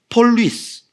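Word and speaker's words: πολύς: 여기 많은 향, 많은이라는 헬라어가 폴리스, P-O-L-U-S라고 되어 있는. 근데 이게 위로 읽는 것이요. 약간 독일어에 보면 유 위에 음라우트가 딱 찍히면 위가 되잖아요. 위. 우가 아니 위. 이것도 약간 그런 발음인 거.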